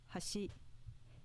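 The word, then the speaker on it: 橋: on the first mora hashi meaning bridge with an accent on the second mora hashi meaning edge with no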